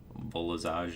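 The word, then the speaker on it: Volazj: Volazage, not Vol'jin.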